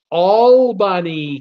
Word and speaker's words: Albany: They tell me it's pronounced Albany County.